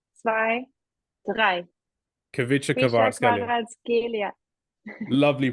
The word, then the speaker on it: Kvaratskhelia: Kvaratskhelia. Lovely pronunciation.